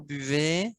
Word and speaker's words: buvez: non buvez à poupet on ne prononce pas le z vous buvez way et le dernier une